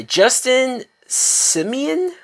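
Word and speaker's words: Justin Simien: don't know but this film is directed by Justin Simeon that's how you say his name and the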